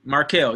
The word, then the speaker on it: Marquel: gonna sell right here marquel did I say her name right let me see mark hill yeah mark Hill I'm not selling right